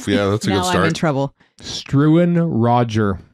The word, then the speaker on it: Struan: that's a good start now I'm in trouble struan Roger struin strin Please spell that for r u u a n Roger